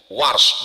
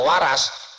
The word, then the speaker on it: Warsh: Saya dikit-dikit tahu qiraat Warsh karena guru Warsh, bukan Waras.